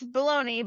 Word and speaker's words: bologna: Is that like bologn and you're pronouncing it? Yeah, it's bologoney, but it's like it says Wednesday.